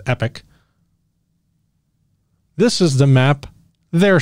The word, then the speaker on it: Epoch: from the conservative rag the epic times or epoch i've heard it pronounced both ways i'm going to go with epic this is the map